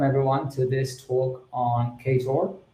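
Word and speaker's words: Ktor: to this talk on kator uh otherwise pronounced couture in fact if you're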